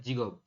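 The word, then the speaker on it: 직업: atau profesi yaun jigob ya dibacanya adalah jigob pekerjaan atau profesi hakseng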